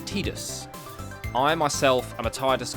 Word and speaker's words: Tidus: never say his name i believe the proper pronunciation is tidus i myself i'm a